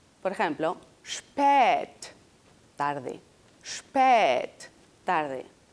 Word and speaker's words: spät: Por ejemplo, spät, tarde.